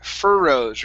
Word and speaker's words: furrows: furrows right here uh you added an extra r you rolled your r here saying okay instead of furrows it's fur furrows remember even if there are two r's we only pronounce one okay so this is fur